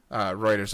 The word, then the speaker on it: Reuters: Yeah, it's Reuters.